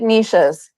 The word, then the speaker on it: niche: to say it's I I think the correct pronunciation is niche because there's an e after it like kiche, right? Like if it was just uh if there was no no e after it would be the hard ch sound, which would